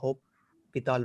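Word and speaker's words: L'Hôpital: something it is a hope pithal rule so s is silent here so some right l hospital and some right uh allo pital directly so what this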